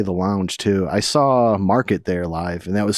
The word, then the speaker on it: MRKT: Market. MRKT is how they spell it, like without the vowels.